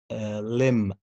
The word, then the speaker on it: limb: Okay, as you see, the first one, if you have a word and this word ends with MB, لو عندك كلمة والكلمة دي بتنتهي بMB, don't pronounce the letter B. Like bum, climb, limb, tomb, plumber.